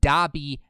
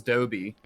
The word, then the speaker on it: Dobby: window now because salty doesn't know how to pronounce dobby all right the video you showed he says rice he says dobby the house elf yeah dumb he says dobie dobby the house oh he says i'm moving